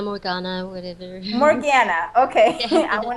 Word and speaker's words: Morganna: um her name is morkana am i pronouncing your name correctly uh yes it's morgana morgana whatever morgana okay i want to make sure